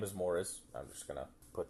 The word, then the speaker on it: Maurice: It's written, the way it's spells, it's spelled like Maurice. So every time I read it, my brain says Maurice, but I got to remember that they call him Morris in the movie.